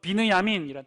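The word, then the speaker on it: בנימין: 히브리어 발음으로는요 비느야민이란 뜻이.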